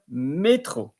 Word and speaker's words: métro: So if there will be no accent in there, it would be métro. But here you pronounce the accent métro, which is subway or metro, or probably also underground.